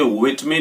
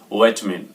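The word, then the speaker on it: vitamin: और जो हमारा नेक्स्ट वर्ड है वो है ये, और इसको बोलेंगे विटमिन according to British. American से सुनेंगे तो सुनेंगे विटमिन।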